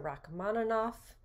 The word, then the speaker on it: Rachmaninoff: the composer rachmaninoff right his name in english is often spelled with two f's but in russian it's a it's a v so the actual phoneme is but because it's at the end of a word it gets pronounced as f because it's devoiced okay so i'm just trying